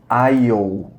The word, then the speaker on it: aisle: She went to the meat aisle. Ignora esse S, a gente não pronuncia, tá bom?